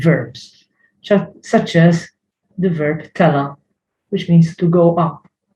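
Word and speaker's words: tela': Usually it is with verbs, such as the verb tela, which means to go up. Tela. There is an ein, which is hidden. You don't pronounce it. It is as if there is no apostrophe.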